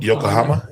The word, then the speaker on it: Yokohama: Yoko- Yokohama, yeah. Japan, the largest island in history. good That's Now, that's a statistic. See? Now, somebody knows that. Yeah. Thanks, Leo. Yokohama.